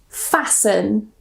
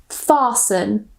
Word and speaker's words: fasten: So the first rule normally if we have the ending s t e n we normally normally don't pronounce the t. So we just pronounce it son. For example fasten or fasten glisten listen moisten.